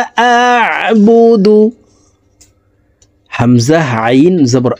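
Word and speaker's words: أَعْبُدُ: কুল ইয়া আইয়ুহাল কাফিরুন লা আ'বুদু, হামজা আইন জবর আ, আইন হরফকে হলকের মধ্যখান থেকে উচ্চারণ করব। আ'বুদু, লা, লাতে 3 আলিফ টান।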